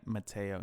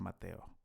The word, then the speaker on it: Mateo: like El Salvador or saying my name Matteo instead of Mateo yeah but [ __